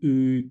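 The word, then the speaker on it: ы: U is E, sound E, like in meat, but the tongue moves back a little bit. So it's E, and then you move it back. E, U, U, U, somewhere here.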